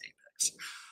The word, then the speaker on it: APX: I am the CEO and founder of Apex Lending, or APX Lending. We like to pronounce it as Apex Lending.